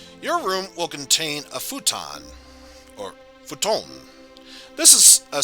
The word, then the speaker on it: futon: so yes um in japan it's called futon uh over here in the west you might pronounce it futon so just keep that in mind uh while it is pronounced futon here it's futon in japan hey thanks for listening to me